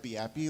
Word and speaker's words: BeAPI: about the VIP framework it's pronounced be happy like the Europeans do my name is